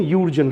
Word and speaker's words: Jürgen: इनका प्रोनाउंसिएशन यूर्जन है.